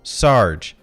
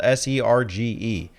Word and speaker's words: Serge: No, it's not Sarge. I thought it was Sarge. It's spelled S-E-R-G-E. But apparently it's something closer to Serge. The Japanese hiragana reading is Serge. So I'm going to call him Serge.